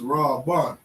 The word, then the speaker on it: Reuben: Reuben. How we say Reuben in Hebrew is Ra-Ban.